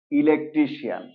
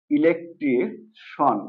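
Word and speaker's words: electrician: দেখুন আমরা এটাকে বলি ইলেকট্রিশিয়ান রাইট আসলে এটার কারেক্ট প্রোনাউন্সিয়েশন হলো ইলেকট্রিশন ওকে সিআই এন এটা হবে সন অর্থাৎ ইলেকট্রিশন ওকে দেন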